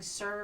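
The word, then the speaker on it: ser: Some cultures prefer to sing "sir" for all of them. It's spelled S-E-R.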